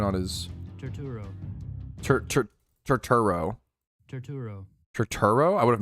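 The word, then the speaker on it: Turturro: stay up unreasonably late, but for sure it's Tutaro. Oh, is it? Actually, I love him, so I do want to say his name correctly. Can I get like a pronunciation on his Turo? Terturo.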